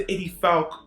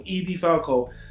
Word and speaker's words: Edie Falco: dark comedy drama which features the main character Edie FAL Edie Falco he pronounced that wrong Edie Falco as the main protagonist Nurse Jackie Nurse Jackie